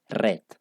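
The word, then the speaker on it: read: escriben igual pero que este se pronuncia red O sea a pesar de que se escriben igual la pronunciación si va a cambiar un poquito en el pasado porque en el pasado va a ser red listo en el caso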